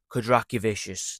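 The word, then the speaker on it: Kondratavičius: I just said that wrong after saying it right in my last recording, like perfectly. Kondratavicius, there we go.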